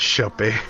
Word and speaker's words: Shoppe: Eldak, you find yourself at the aptly named Village Shoppe. That E is silent.